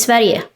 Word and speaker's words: Sverige: Sweden is Sverige, so it's spelled differently.